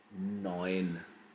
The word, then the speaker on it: neun: Neun. Oi. That EU. Combination is EU. Right? Neun. If you see, we have this sound. EU. Going to pronounce this oi.